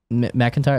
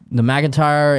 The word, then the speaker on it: McIntyre: McIntyre, that's how you say his name, right? Yeah, McIntyre.